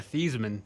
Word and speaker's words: Theismann: change the heisman yeah thiesman okay yeah wow but they changed it just to rhyme with heisman wow um so yeah